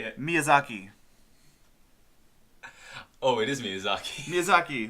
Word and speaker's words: Miyazaki: to say it title try to say it Miyazaki oh it isn't music hockey look I pronounced it right great yeah so the miyazaki